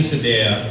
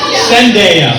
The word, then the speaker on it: Zendaya: Let's just say Messi and Sadea are in the grocery store. Can I say the name wrong? Zendaya.